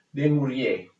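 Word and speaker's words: Dumouriez: Desmouriers, si scrive Desmouriez, d'accordo?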